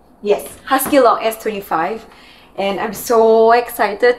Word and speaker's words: HuskyLock: And this is the, I'm going to pronounce this so wrongly, Husqvarna Viking HuskyLock S25. Am I right? Yes, HuskyLock S25.